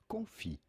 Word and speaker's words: confit: In French it is said confi.